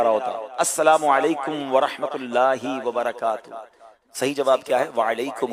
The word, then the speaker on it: السلام علیکم ورحمۃ اللہ وبرکاتہ: چلا کیا بول رہے ہیں۔ صحیح طریقے سے تلفظ کے ساتھ دوبارہ پڑھیں گے، السلام علیکم ورحمۃ اللہ وبرکاتہ۔ جواب کیا دینا ہے؟